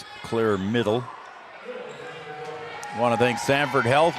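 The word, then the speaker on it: Midel: Middle on the outside. Yeah, middle on the outside. Yep. And it is spelled M I D E L, but it is pronounced middle.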